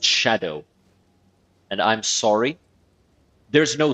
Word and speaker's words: Scadu: but no it's because the S and C Sound actually make a sh sound like an X so it's pronounced Shadow must kill host die